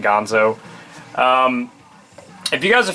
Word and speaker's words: Ganzo: these two knives are made by Gonzo or Ganzo however you wish to pronounce it I pronounce it Gonzo um if you guys